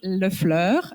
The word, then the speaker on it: Lefleur: And then you have Mr. Cecil Lefleur. I want to pronounce it the French way because it's beautiful.